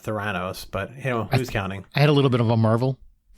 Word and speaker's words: Theranos: Kate McKinnon turns to drama and stars as disgraced Theranos founder Elizabeth Holmes.